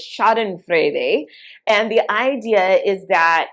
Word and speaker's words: schadenfreude: german word for this and it if i pronounce it correctly it's schadenfreude and the idea is that it is literally